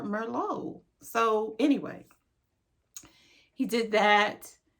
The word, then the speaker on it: Merlot: So even I am not a drinker, but I know to pronounce the name, it's more Merlot.